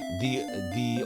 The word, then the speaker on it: ye: RPG Capper says people like to call it ye old English, the old English. Apparently ye is not pronounced ye, it's pronounced the, or the King's English.